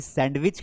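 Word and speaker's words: sandwich: कहना ये चाहता हूँ कि जिस सैंडविच को हम सैंडविच पढ़ते हैं वो सैंडविच नहीं है, बेसिकली वो सैंडविच है। यानी कि उसमें डी जो लिखा हुआ होता है वो पढ़ा नहीं जाता है।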